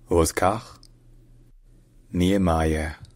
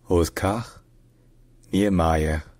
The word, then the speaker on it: Oscar Niemeyer: In Brazilian Portuguese, his name is pronounced Oscar Niemeyer. Oscar Niemeyer.